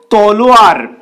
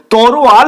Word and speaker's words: তলোয়ার: তরোয়াল এটা সম্পূর্ণ ভুল সঠিক শব্দ তলোয়ার এক্ষেত্রে অন্তস্থ অ এবং র শেষের দিকে রয়েছে কিন্তু ভুলভাবে উচ্চারিত হয়ে যখন তরোয়াল হচ্ছে তখন অন্তস্থ অ এবং র জায়গা পরিবর্তন করছে এবং সেগুলো আগে চলে আসছে এবং ল টা পরে চলে যাচ্ছে উচ্চারিত হচ্ছে তরোয়াল তারপর লোকসান এটাকে অনেকে